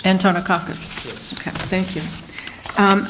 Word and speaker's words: Antonakis: the record I wasn't quite sure how to pronounce it I'm sorry it's antonakis antonakis yes okay thank you um I noticed that